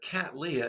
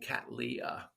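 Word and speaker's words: Cattleya: Well, there's a lot of ways to say it, but Cat Leah, it's named after William Catly who first found them. So, we just, you know, support his name by saying Cat Leah.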